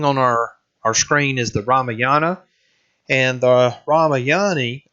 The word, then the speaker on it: Ramayana: the last thing on our screen is the Ramayana and the Rama yani Ramayana excuse me some of these being hard to pronounce but it really contains another story and